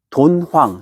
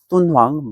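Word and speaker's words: 敦煌: 그 위쪽에 돈황, 중국 발음으로 똔황입니다. 똔황 막고굴에서 엄청난 유물이 발견되는데요.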